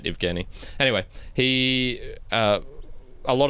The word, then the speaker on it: Evgeny: Kenny evgeny no it's it's spelled Eugene oh I gotcha but they say it evgeny anyway he uh a